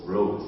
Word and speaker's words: Rhodes: Rhodes, si on veut le prononcer à l'anglaise. Rhodes, R-H-O-D-E-S.